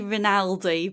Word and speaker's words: Rinaldi: forgot to double check is your last name raldi is that how you say it I say ronaldi but that fussy okay